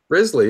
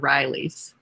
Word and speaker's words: Risley: Risley, yeah. Risley. Okay. I went to school with a few with the same spelling, and they were Rileys.